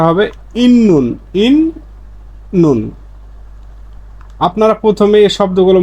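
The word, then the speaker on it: 있는: কুন নাদা আবার ইতনুন ইতনুন না হয়ে সঠিক উচ্চারণ হচ্ছে ইন্নুন কারণ এ ত ধ্বনির একটা বর্ণ পাইছি বর্ণ পাওয়ার পরে নিউন পাইছি।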